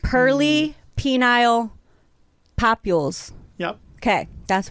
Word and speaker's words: pearly: bad at words okay purely penile papules do i pronounce it like pearl pearl pearly because they look pearlesque pearly penile papules yup okay